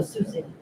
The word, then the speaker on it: Sioux City: Oh, Sioux City.